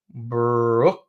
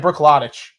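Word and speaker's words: Bruichladdich: Brooklottich. It looks like Brooklottich, but it's actually pronounced Brooklotti.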